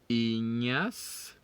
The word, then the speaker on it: Ignace: We said GN is pronounced ñ, so we don't get the G when we pronounce the GN. So we say Ignace a mal à son poignet.